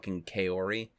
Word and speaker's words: Kaori: our Kaori when it's more like calorie I feel yeah I don't what